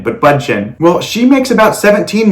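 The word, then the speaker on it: Bündchen: name but i believe it's bud chin is pronounced bunchen not butchen but bun chin well she makes about 17 million dollars so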